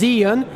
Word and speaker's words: Zhiyun: I'm over at the Zhiyun stand. You may pronounce it as Zhiyun.